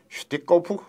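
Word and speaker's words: Штыков: 그 기록이 스티커프의 일기입니다. 스티커프 일기는 우리 국사편찬위원회가 책으로 묶어서 냈죠. 오른쪽에 맨 오른쪽에 그 표지가 보입니다. 소련 러시아 말 발음으로 슈티코프 일기.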